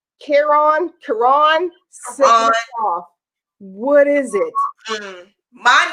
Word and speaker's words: Caron: Caron Simply Soft. Why do you pronounce it wrong? It's a big thing because my middle name is Caron. It's Caron? My middle name is Caron, Caron.